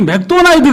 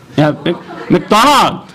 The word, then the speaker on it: McDonald: 제 발음 때문에, 한국식 발음 때문에 못 알아듣는 거예요. 한국에는 뭐라고 그래요? 햄버거 먹으러 가다. 우리 맥도날드 가서 햄버거 먹자 그러잖아요?